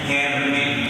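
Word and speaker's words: Hermès: Bacanya bukan Hermes, bacanya Hermes.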